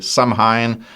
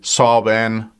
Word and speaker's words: Samhain: what pronunciation you use, some say Samhain, others say Samhain, Samhain. You spell it Samhain.